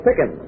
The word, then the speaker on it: Pickin: name's keila this is miss lola pickin rhymes with chicken or a scream i